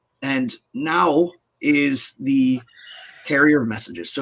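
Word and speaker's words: Gná: her handmaiden now okay it's spelled g-n-a with a dash over it but it's pronounced now and now is the carrier messages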